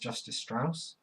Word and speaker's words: Justice Strauss: it you need them over number one it's justice Strauss that is the spanning apparently street justice status but it's pronounced justice Strauss as we see in the first few seconds